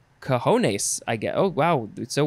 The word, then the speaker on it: cojones: You would say cojones, I guess.